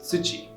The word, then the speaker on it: 土: ground or soil and its other reading is tsuchi it is a common